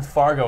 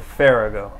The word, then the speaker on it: Farrago: For those at home who get it wrong, how is it spelled, or how is it pronounced properly? Farrago. Farrago. You can Farrago roll the R if you want.